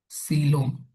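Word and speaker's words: coelom: सिलोम spelling दिख रहा होगा। सिलोम कोइलोम नहीं पढ़ना है।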